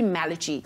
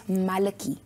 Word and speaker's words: Malachi: It has to be Malachi. No, normally some people say it as Malaki. But it's Malaki. not Malaki because I don't do things the way normal people do it. So I changed the pronunciation, I changed the spelling,